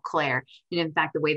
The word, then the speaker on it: CLAIRE: launched the industry's first metadata-driven AI engine called CLAIRE. And in fact, the way that it's spelled, it's C-L-A-I-R-E.